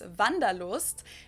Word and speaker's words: Wanderlust: an old-fashioned German word that we pronounce vandalost and it's literally the